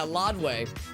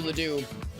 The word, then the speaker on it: Ladue: Whenever I drive through Ladue, my old GPS on my old phone used to pronounce it as Lodway, which actually might... Let me think about this. Actually, that might be the actual pronunciation, like the French pronunciation.